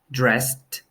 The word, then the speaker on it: dressed: played listened celebrated wanted as we can see the first set of words that we're practicing are the T sound watched dressed they have a T sound then we have played